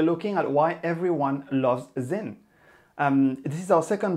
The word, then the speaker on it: Sinn: with him and yes it's pronounced zin and not sin so why is it